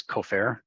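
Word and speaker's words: כֹּפֶר: word for ransom is kofer, it's spelled exactly the same as the Hebrew word kafer for atonement. The only difference is a little vowel point, which didn't exist in the original text.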